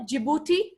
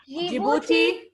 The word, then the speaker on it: Djibouti: Our currency is the Djibouti franc. D is silent. D is always silent.